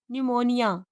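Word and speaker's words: pneumonia: तो पी अक्सर पी एस पी टी और पी एन कॉम्बिनेशन में साइलेंट रहती है। जैसे साम साइको न्यूमेटिक्स निमोनिया रिसीव टेरोन।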